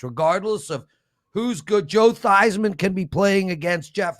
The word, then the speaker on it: Theismann: And of course, you know why his name was pronounced Thiesman until the Theismann for Heisman campaign, and he literally changed the pronunciation of it.